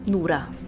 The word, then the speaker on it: Nora: Nura. Nura is how you say Nura.